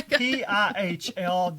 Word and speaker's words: Pihl: And I was like, is it Pill? Is it Pile? Is it File? It's Pihl. I pronounced it Pill, but who knows? That sounds good to me.